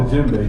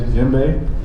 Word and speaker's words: djembe: But right here, this instrument is called the djembe. Can everybody say djembe? Djembe. Thank you. And the crazy part is spelled with a D. It's D-J-E-M-B-E. But the D is silent in it.